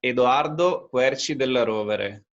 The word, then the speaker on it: Edoardo Querci della Rovere: Well, in Italian is Edoardo Querci della Rovere. So actually you were pretty close to it, so it's very good.